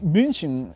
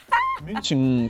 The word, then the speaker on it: München: Es que baja, es como, o por ejemplo, no sé, München, no es München. München, como que baja la E, ¿no?